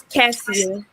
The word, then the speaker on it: Cassia: It's Cassia. Cassia. I said it right the first time.